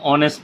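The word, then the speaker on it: honest: হচ্ছে হি ইজ অ্যান অনেস্ট person, word beginning with a Bhawal sound, তাহলে এইচের উচ্চারণ যদি হয় তাহলে হচ্ছে এ, এইচের উচ্চারণ যখন হবে না তখন এন, তাহলে হি ইজ অ্যান অনেস্ট person হবে।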